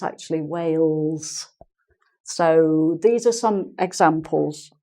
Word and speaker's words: Wales: with a very strong accent um tends to pronounce it like wows not whales but wows which is like saying